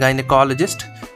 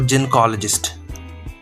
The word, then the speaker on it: gynecologist: ये है आपका जिसको कि नॉर्मली हम लोग नॉर्मली स्पीकिंग प्रोनाउंसिएशन में हम लोग बोलते हैं गनेकोलॉजिस्ट। बट इसका जो प्रोनाउंसिएशन है वो जेनकोलॉजिस्ट।